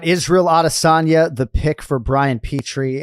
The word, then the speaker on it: Adesanya: conversation today because yes you can go audition or adasanya right but the one thing you cannot do is have the H sound I'm not talking to